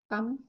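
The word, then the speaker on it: calm: মস ঠিক আছে বেশি কাম কাম না এটা এটা ইংরেজিতে হয় কাম হ্যাঁ ক আকার ম হয় ফরাসিতে কালম হবে ক আকার লয় মলময় ফরাসিতে এলটা সাইলেন্ট থাকে না ইংরেজিতে সাইলেন্ট থাকে ইংরেজিতে বলি আমরা কাল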